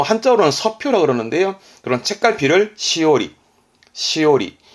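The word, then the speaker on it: 枝折: 발음은 시오리입니다. 시오리. 예. 꺾다가 오르라서 오리 발음이 시오리가 된 건데 이렇게 됩니다.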